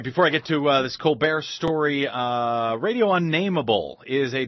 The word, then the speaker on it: Colbert: Stephen Colbert's sister, as I said at the top of the show, his sister, Elizabeth Colbert Bush. It's really how you pronounce her name, is Colbert, is running as a Democrat in South Carolina.